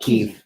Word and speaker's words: Kyiv: This is Kyiv. That's how you pronounce it, right? Yep, Kyiv.